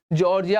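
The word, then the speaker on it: Tsar: यहाँ पे मैंने जार बोला, टी वॉज द साइलेंट, याद रखना टी क्या है, यहाँ पे एक साइलेंट है, इसलिए से कहा गया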